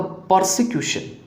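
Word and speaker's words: persecution: परसिक्यूशन, याद रखिएगा परसिक्यूशन में ऐसा स्पेलिंग है PER और फिर S है, तो R के बाद क्या S आता है? याद रखिएगा जब भी R के बाद कॉन्सोनेंट आता है तो R को बहुत कम या नहीं के बराबर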